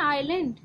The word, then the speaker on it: island: एंड आइलैंड देखिए, इसमें ना एस साइलेंट होता है, तो ये आइलैंड ही स्टडी करते हैं, रीड करते हैं.